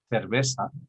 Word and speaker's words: cerveza: So some in many places they also pronounce the C as an S. For instance, one of the real challenges for finding this out is the way they pronounce cerveza, which in my father used theta, so for him is cerveza, and then in Sevilla